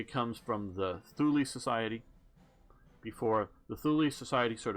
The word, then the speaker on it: Thule Society: Thule sounds better too, at least English speaking ears, sort of like Zool, sort of like impressive, but I gather it really is pronounced Thule Society.